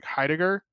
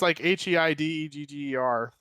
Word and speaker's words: Heidegger: I forget what I don't even remember how to pronounce his name. It's Heidegger. Kroby will probably say the name. Yada. It's Heidegger.